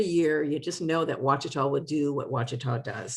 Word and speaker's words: Ouachita: Floricane fruiting, Thornless, pronounced Wacita, if you hadn't had that lesson before, it is our standard in North Carolina and probably the world as well.